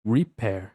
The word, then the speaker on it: repair: Então a gente acha que é termina com som de i, mas na verdade é repair. Tem um som de e r aqui no final.